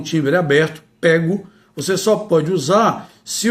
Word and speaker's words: pego: É certo que o verbo pegar tem pronúncia aberta apenas no presente do modo indicativo. É consenso entre os estudiosos do idioma que a pronúncia deve ter timbre fechado.